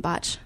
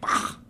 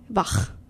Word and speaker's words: Bach: a guitar class, and my professor calls him Botch. Yeah, so yeah. So he's like, he wants Sebastian Botch. I'm pronouncing it wrong. It's like Bach. Bach.